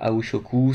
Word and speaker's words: Aoi Shoku: Alors, Aoi Shoku, ça s'écrit A-O-I, comme ça se prononce, S-H-O-K-U, Aoi Shoku.